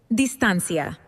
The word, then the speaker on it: distancia: To transform these elegant words into Spanish, you just take that final CE and stretch it out into CIA, pronounced like C-A. Difference transforms beautifully. Let's try another one. Distance smoothly transforms into distancia.